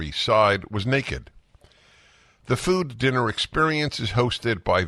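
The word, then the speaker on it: Füde: allowed the Fuda or food f-u-d-e but pronounced as food it's got an umlaut two dots over the U the food dinner experience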